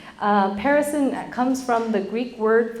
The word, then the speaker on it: Perisson: For those of you who don't know me, I'm the broker and owner of Perisson Real Estate. It's pronounced like Harrison with a P. Perisson comes from the Greek word for abundance and overflow.